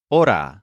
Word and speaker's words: hora: word for our is AA spelled h o r a with a silent h for example she was